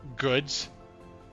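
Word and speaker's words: Gudz: It has outside on a sign that says goods, but it's spelled G-U-D-Z.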